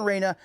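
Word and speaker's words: Reyna: bring it up here so i say it correctly martin reina martin uh r-e-y-n-a martin raina pre-teen competitive shooter check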